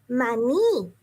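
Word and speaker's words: maní: the word in Spanish is mani and you see that it has an accent on the end man like yeah that's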